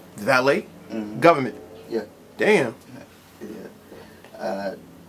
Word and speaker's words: Valee: get out of here the name valet is it is it's not really spelled the way it's pronounced you know what I'm